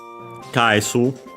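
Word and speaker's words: 返す: But yeah, kaesu, accented, technically can be accented on the first mora in this case, so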